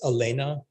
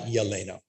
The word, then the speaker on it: Elena: And so I'll start by saying, is your first name properly pronounced Elena, not Yelena? Thank you. The Y is silent.